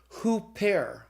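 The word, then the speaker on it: ὑπέρ: sound so for example if you have the word OOP air and then you put the rough breathing on it you pronounce it hoop air get accidents on the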